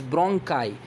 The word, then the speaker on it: bronchi: What is the correct pronunciation of this word? This is not bronchi or bronchi or bronchi, this is bronchi.